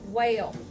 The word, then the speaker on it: whale: Whale. The E is silent. You don't hear it.